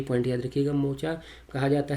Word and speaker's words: Mocha: और मोका कहा जाता है, मोखा भी कहा जाता है उसे, जनरली वहाँ के प्रोनाउंसिएशन में उसे मोचा कहते हैं।